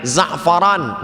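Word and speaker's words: زعفران: Kalau pakai huruf d, zafran, orang yang beruntung. Kalau pakai zai ain, zafaran, minyak wangi.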